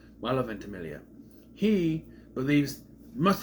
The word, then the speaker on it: Ventimiglia: character, our protagonist, Peter Potrelli, played by Milo Ventimiglia. Milo Ventimiglia. You know how long it took for me to figure out how to pronounce that name? Milo Ventimiglia.